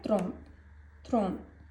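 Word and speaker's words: trente: अब 30 है थ्रोन. टी को हम प्रोनाउंस नहीं करेंगे. हम थ्रोन बोलेंगे.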